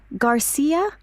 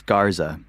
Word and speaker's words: Garza: Garcia. Actually, it's Garza.